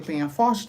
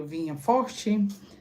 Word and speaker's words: Penafort: tem uns que pronunciam Penha forte tem uns que pronunci vinha Forte São Raimundo vinha forte e eu quero destacar